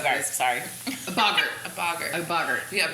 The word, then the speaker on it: boggart: A boggart. A boggart. A boggart. Yeah, Bogart is the guy who's in Casablanca. I always pronounce it Boggart. No, it's TG, so it's short O.